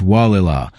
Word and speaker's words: Gualala: But Gualala, pronounced Wah-la-la from a Pomo word meaning water coming down place, sits on the Sonoma coast where the Gualala River meets the Pacific.